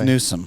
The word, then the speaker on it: Newsom: It's Newsome. It's like karat and carrot.